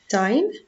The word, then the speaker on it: sign: Okay, sign, signal, signature. Sign with I and silent G.